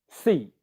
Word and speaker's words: seat: example of it but any vowel sound will get shortened in length when a voiceless consonant comes after it so seed seat the the length of the long vowel sound gets shortened a little bit okay again this is